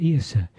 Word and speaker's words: Iosa: and the inflection, Isa, Iosa. So when they came to write down the Gaelic pronunciation of Isa, they put an O in, Iosa.